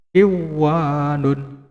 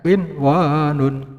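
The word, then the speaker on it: قنوان: Maka tidak boleh dibaca dengan kiwanun, ya. Tidak boleh dibaca dengan kiwanun, tidak boleh, ya, karena berada di dalam satu kalimat, ya. Cara bacanya yang benar gimana? Ya, qinwanun, ya, qinwanun. Tidak boleh qiwanun, tidak boleh, ya.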